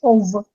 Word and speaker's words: of: We said that of, at all times, you should pronounce v, of all achievement.